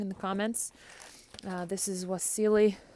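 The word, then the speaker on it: Wassily: This is Wasily, which is probably pronounced as a V, Kandinsky, who's a famous Russian artist.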